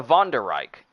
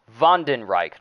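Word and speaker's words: Wandenreich: and of course the von der reich actually stern ritters the vonderrik is the uh vanden reich why do i call him the von der reich but the vondenreich is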